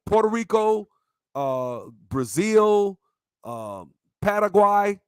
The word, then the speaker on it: Paraguay: Puerto Rico, Brazil, Paraguay, as they say, Paraguay, that's how they say it, and Mexico City, right?